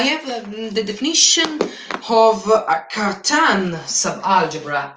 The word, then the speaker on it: Cartan: The Cartan with a French pronunciation. Because I think Cartan was a French mathematical.